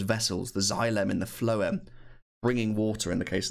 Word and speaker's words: phloem: felt the flow and remember those F sounds for phloem phloem take food from